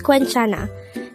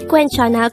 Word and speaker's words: 괜찮아: younger than us the word quenchana could be divided into three syllables queen is formed from the combination of the sounds of kyok but take note that where is formed with a combination of the sounds of o and a so it's like which gives up the sound the next syllable